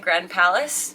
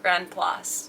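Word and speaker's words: Grand-Place: Sometimes looks like Grand Place. Other times looks like Grand Palace. It's pronounced Grand Place.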